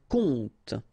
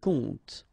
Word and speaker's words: compte: And the first one is un compte. Un compte. And here you will have the translation. Un conte. So exactly the same pronunciation, but then of course the meaning is different.